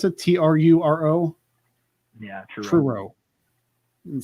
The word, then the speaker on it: Truro: to get into the q a now in true row is that how you pronounce it t-r-u-r-o yeah true it sounds like something scooby-doo would